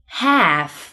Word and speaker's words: half: Number five, AL 紧跟着 FMK, L 不发音。Half, salmon, walk.